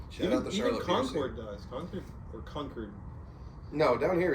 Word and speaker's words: Concord: Concord does. Concord. No, down here is Concord. That's what I call it. But I call it Concord because that's what it's spelled.